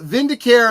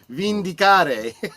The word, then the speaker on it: Vindicare: Matthew Flynn, the gladiator of Chaon, says, "So, where's the uh Vindicare Assassin?" Oh, sorry. I didn't say it right. Vicare. Yeah, he was saying that that it seemed like an Italian word. Vindicare assassin.